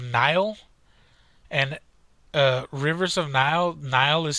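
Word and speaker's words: Nihil: called rivers of nile and rivers of nile nile is spelled kind of different it's n-i-h-i-l and the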